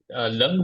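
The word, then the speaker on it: लङ्: कैसे उच्चारण करते हैं लंग बोलते हैं लंग लंग लंग और चौथा विधि लंग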